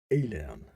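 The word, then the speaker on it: Aillen: fire breathing underworld dweller alien that sounded like alien it sounded like alien but it spelled a-i-l-l-e-n one alien way of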